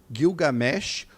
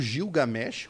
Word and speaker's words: Gilgamesh: novo já existia epopede guilgamesh ou gilgamesh como algumas outras pessoas falam enfim você pode escolher só a pronúncia nós tivemos o kojique